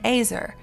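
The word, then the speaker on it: Ezer: were to be and AER rhymes with Razer a warrior strong helper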